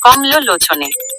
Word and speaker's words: কমলনে: উচ্চারণগুলো ভেঙ্গে দেওয়া হল কমলনে উচ্চারণ হবে কমলনে বিশালাক্ষী উচ্চারণ হবে বিশালা